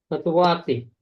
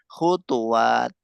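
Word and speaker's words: خطوات: Khutwati. Nah, itu jamak apa mufrad antum nulisnya? Oh, Nah, maksudnya setelah wawu ada alifnya enggak? Terus ada, ada. taknya maftuhah toh? Ya, Nah, berarti bacanya bukan khutwat tetapi khutuwat.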